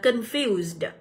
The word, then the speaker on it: confused: Tại vì ơ ngắn không nhận được trọng âm thì các bạn sẽ nhấn vào âm số 2.